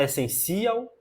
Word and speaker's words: essencial: 100 de essência essência é o 100 a sílaba T nessa é o 100 também você fala essencial não você fala essencial não você fala essencial é a última essencial